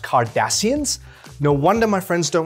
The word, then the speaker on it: Cardassians: futuristic lingo the vulcans the kardashians are you serious it's pronounced cardassians no wonder my friends